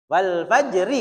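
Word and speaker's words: والفجر: Nah, anak saya itu masih kadang rnya hilang. Wal fajr faj fajr. Jadi rnya hilang sampai jim toh. Itu lidahnya langsung kerok. Tapi enggak usah diucapkan. Wal fajr ini lidahnya langsung kerok supaya enggak hilang hurufnya.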